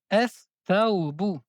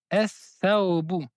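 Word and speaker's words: الثوب: On ne prononce pas la lettre lam, mais on prononce deux fois la lettre th. On dit ath thawbu, ath thawbu.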